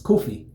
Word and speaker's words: Kofi: name would be um Kufi. Yeah, I think. Am I saying it right? Kufi. Kufi. Almost saying almost like saying coffee, but it's it's kofi.